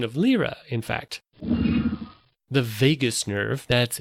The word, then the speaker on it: vagus: a regular Joe so my pronunciations not on point with the Latin and the specificity and such it may sound as if I'm saying Vegas as in Las Vegas my wife's favorite vacation